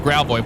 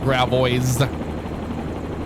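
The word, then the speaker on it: Gravois: gravo but uh they pronounced it or we pronounce it gravo but it's spelled g r a v o i s so a lot of people that don't know how to pronounce it correctly call it Gra boys so that's we we just shake our head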